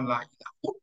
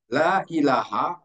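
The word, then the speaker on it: لا إله: Atau ucapan la ilaha illallah selalu kita bacanya la ilaha, tidak, padahal bisa saya bisa dibaca la ilahun, bisa dibaca la ilahin dan yang lain la ilahan, tetapi harus dibaca la ilaha, itu wajib karena ada makna di situ.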